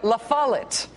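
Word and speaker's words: La Follette: Okay, so to be clear, the think tank in Michigan, like the island, is called Meno. I can be spiteful about it, but it's still Mackeno. The city in Wisconsin is called Fondulac. And the Secretary of State in Wisconsin is called Doug Lafalit.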